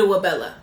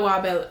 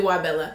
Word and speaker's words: Wabella: My name is and then my channel name is Wabella. That's how you say it. Not Wabella. It's actually really Wabella.